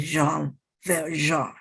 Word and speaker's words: Jean Valjean: pronunciation of Jean Valjean, I found two different pronunciations. One says Jean Valjean, and the other says Jean Valjean. I'm sure Jean Valjean is correct because it's a French name, but the person who